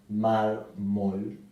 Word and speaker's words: mármol: en l por ejemplo mármol la palabra mármol también es grave porque se acentúa en la penúltima sílaba mármol y también lleva tilde